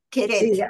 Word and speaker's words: Keret: Acá alguien pregunta cómo se escribe el apellido del autor con K, K-E-R-E-T, Sí, Queret.